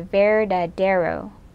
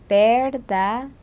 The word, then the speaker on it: verdadero: American accent, you say verdadero. But in Spanish, you pronounce the V like a B and the D like a TH. So you say verdadero.